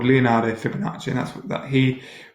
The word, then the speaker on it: Fibonacci: thought to get fun it's called at the Fibonacci sequence okay so fib oma CCI pronounced Fibonacci it's where that sum of the two previous